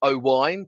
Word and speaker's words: Owain: have Owen uh which actually should be pronounced o wine because it's Welsh um you have HRI